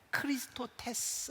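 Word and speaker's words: χρηστότης: 번역이 될 수 있는데 헬라어로 자비는 크리스토 테스 라고 되어 있습니다 어떤 말과 비슷한가요 크리스토스 그리스도 와 비슷합니다 그래서 초대 교회에는 이 발음 때문에 사람들이 크리스토 테스 자비 그리고 크리스토 스 그리스도와 조금 헷갈렸던 것 같아요 그래서 헬라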